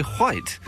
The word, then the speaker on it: white: You're picking on the way just the way I say white. I pronounce the H as you are meant to for goodness sakes.